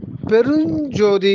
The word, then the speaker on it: பெருஞ்ஜோதி: ரெண்டா பிரிக்கலாம் அதுல வந்து மூன்று சொற்கள் இருக்கிறது அருள் பெரும் ஜோதி பெருஞ்ஜோதி அப்படின்னு படிக்கணும் அருள் பெரும் ஜோதின்னு அப்படி படிக்கக்கூடாது அதாவது ஜோதி வந்து அது